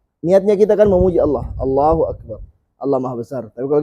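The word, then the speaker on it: الله أكبر: Allahu Akbar. Nah, enggak boleh panjang A-nya. Allahu Akbar. Gak boleh. Karena menambah hamzah. Berarti niatnya kita kan memuji Allah. Allahu Akbar.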